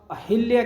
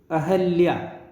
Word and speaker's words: अहल्या: और अहिल्या के अंदर इसमें यह भी जो कि गलत हो गया, इसको कैसे लिखेंगे? अहल्या, इसका उच्चारण क्या होगा? अहल्या, अहल्या, ठीक है।